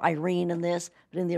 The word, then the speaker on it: Irene: Well, they call her Irene in this, but in the original, well, in the ones with Jeremy Brett, they called her Irena, even though it was spelled like Irene, I-R-E-N-E.